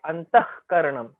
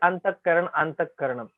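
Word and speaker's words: अन्तःकरणम्: Visarga, when it is followed by k and k, then that Visarga we will pronounce as k. We don't say dukha because du plus Visarga and k is there. That is why dukha. Okay, antahkaranam. Generally, we all say antahkaranam. No, that is wrong pronunciation. Antahkaranam. That Visarga k is following antah plus karanam.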